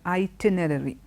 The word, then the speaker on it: itinerary: you is the word itinerary. Okay, a slightly difficult word to pronounce. You see the two R's coming together. So, when you pronounce it, it can be slightly difficult.